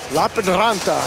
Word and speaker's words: Lappeenranta: Lappeenranta is how you pronounce that for the Finns, and Ice Baron Berlin.